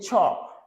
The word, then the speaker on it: chalk: Onzième mot, nous, c'est chalk, chalk, chalk. Je ne pas prononcer L là, ok? Chalk, ok? Chalk, chalk, chalk. Pas du chalk, pas du chalk. On dit chalk, chalk.